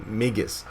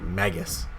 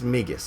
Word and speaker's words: Magus: over magus magus yes that is the correct pronunciation of this champion migus now i've been watching the order a little